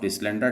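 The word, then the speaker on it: Deslandres: ए भी कई जगहों पर कई किताबों में लिखा गया, लेकिन मैं इसीलिए ठीक कर रहा हूँ, डिसलैंड्रा। ये स्पेलिंग है DESLANDRE, डिसलैंड्रे टेबल।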